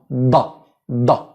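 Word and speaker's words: ض: From where the organs of speech of dad is to bite your tongue or one side right or left or both of them together and say da, not the tip. The tip is dal. No. Da. No, that's not correct. But da da. This is dad.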